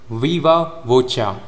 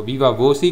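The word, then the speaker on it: viva voce: वीवा वोचा, इसे आप वीवा वोचा कह सकते हो या फिर वीवा वो शी भी कह सकते हो। वीवा वो सी कहो या फिर वीवा वोचा कहो, दोनों प्रोनाउंसिएशंस सही हैं।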